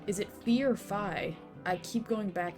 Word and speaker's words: Phi: you chose ally too fi like the greek letter like the one that rhymes with i okay okay it might